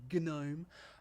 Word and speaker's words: GNOME: or gnome is actually is how it's actually pronounced gnome um is got applications down the left side